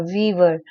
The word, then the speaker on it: Weaver: It's Weaver, Billy said. W E A V E R. Wever.